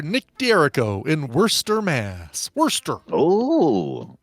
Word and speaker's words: Worcester: you're playing for Nick d'arico in Worcester Mass Worster oh it's better Mast or Worcester did you say you want to pronounce it worse what was his name again